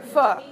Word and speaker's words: pho: So pho is spelled P-H-O, and this doesn't quite work, but it's really close. What if we just skim off the end of the F? F-H-O, okay? And it makes the F sound.